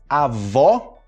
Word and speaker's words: avó: Continuando, a gente vai ter o ó com o acento, né? Ó, ó, ó. Avó, hóspede e pó. Avó, hóspede, pó. Avó, hóspede, pó.